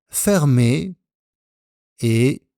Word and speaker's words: fermée: Ensuite, nous avons fermé et ouvert. Fermé, ouvert. Au féminin, la porte est fermée. La même prononciation, mais avec le E du féminin.